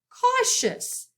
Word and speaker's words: cautious: Cautious. The C has a K sound again.